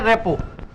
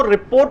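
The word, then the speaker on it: rapport: इसी तरह आप बोल सकते हैं रेपो. मैं बार बार बोल रहा हूं, इसको रिपोर्ट नहीं बोलेंगे, रेपोर्ट भी नहीं बोलेंगे, इसको रेपो बोलेंगे. आरटी इसका प्रोनाउंस नहीं होगा.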